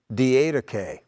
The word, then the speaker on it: Didache: the way now have you ever read the d8k it's spelled d-i-d-a-c-h-e d-d-k have you ever heard its